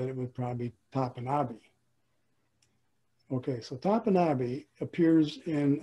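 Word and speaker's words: Topinabee: Most people pronounce it Tupinabee, T-O-P-I-N-A-B-E-E. Well, I asked one of my language instructors how he would pronounce it, and he said it would probably be Tapanabe.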